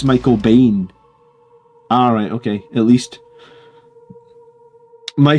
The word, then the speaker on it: Michael Biehn: It's pronounced Michael Biehn.